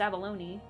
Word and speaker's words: abalone: an ab Oh yeah, we learned about the abalone and how it actually is pronounced abalone.